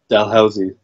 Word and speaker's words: Dalhousie: I can't pronounce it. How do you say it? Dalhousie. Dalhousie University in Halifax.